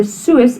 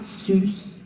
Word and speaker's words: soos: So remember, the soos is not soos. You don't pronounce that a double O as a oo. You pronounce it as a oor.